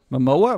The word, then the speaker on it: Momoa: it like this because it's how it really pronounced mom oh wow my mo up like my mower my mower Momoa Momoa my MOA I should be able to